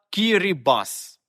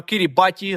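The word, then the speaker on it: Kiribati: так вона стала кірі-бас Але чому в кінці ті а не С БО місцевій мові літера Т може передавати звук с назва країни також звучала Кірі Басі але оце крайня і просто з часом випала із вжитку а те залишилася позначати звук с але весь світ про це не знав і так ми маємо кірібаті замість Кірі бас Ну тепер країна заради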